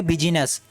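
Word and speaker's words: business: क्या है यह आप मुझे पता इसको करेंगे बिजनेस और इसे पार्लियामेंट अब यहां पर देखिए यह आई बटन यहां पर साइलेंट हाय का विचार नहीं हो रहा है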